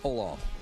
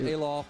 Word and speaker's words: Olaf: It is Olaf. Olaf, okay. Not Alof.